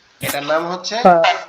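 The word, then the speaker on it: فاء: আমরা যে শুরুতে আলিফ উচ্চারণ করছি না, আমাদের উপরের দুই দাঁত নিচের ঠোঁটের পেটের সাথে লাগবে, লেগে উচ্চারণ হবে ফা।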